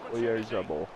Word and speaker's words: Oyarzabal: Oyarzabal.